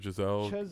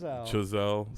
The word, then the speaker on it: Chazelle: Giselle, the director, Giselle. Chazelle. Sorry. Chazelle, sorry.